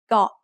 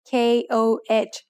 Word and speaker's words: Koh: In Thailand, you'll hear over 90% of tourists pronouncing the word got incorrectly. Got is usually written in English letters as KOH, so many foreigners end up saying ko instead of got.